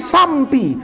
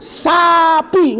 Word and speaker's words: sapi: Ada orang di Jakarta tuh nggak bisa ngomong sapi, mesti sampi. Mana M-nya kata saya. Tapi bacanya tetap, nanti korban kamu apa? Saya motong sampi katanya. Sampi apaan kata saya? Sapi. Latihan tuh, sapi.